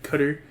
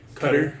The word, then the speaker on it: Cutter: it might be cutter I hope people don't pronounce cutter and cut or like cut her you know like cutter like cut her cut her yeah I hope they